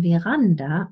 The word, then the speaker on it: Veranda: But sometimes the letter V is also pronounced like Wolf, as in Veranda und Vase.